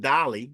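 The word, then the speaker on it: DALL-E: And then of course, Derrick just mentioned Dolly because Dolly comes from OpenAI as well, and that's Dalle.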